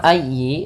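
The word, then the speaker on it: أيّ: Kemudian dalam ayyi ditekan huruf ya-nya karena dia tasdid, dan huruf ya termasuk huruf lin yang lembut, di dalam pelafalannya jangan dihentakkan.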